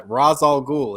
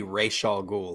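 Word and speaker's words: Ra's al Ghul: should be falcone and i think it should be uh razal ghoul instead of he should have consulted david goyer the comic reader that he had to write the script and he should have sent him straight and danny o'neil came out later and said no it's supposed to be rachael ghoul like the animated series pronounces it so he's like yeah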